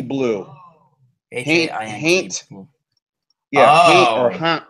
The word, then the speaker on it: Haint: H-A-I-N-T Blue. H-A-I-N-T Blue. Yeah, Haint or Haunt Blue. Gotcha. All right, cool. It's Haint Blue Brewery. It's Haint, not Paint? Correct, with an H.